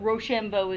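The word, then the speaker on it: Rochambeau: his own money another french soldier i can't pronounce his first two but roshambo is his last name c o m t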